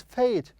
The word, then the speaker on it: fate: If I have E here, I pronounce it fate. But because I don't have E here, I will pronounce it as fat, fat.